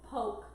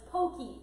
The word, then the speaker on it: poke: I thought it was called poke, but it's pokey.